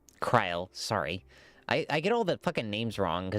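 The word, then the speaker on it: Krile: Creel, you will always be welcome here, Cryle. Cryle, sorry.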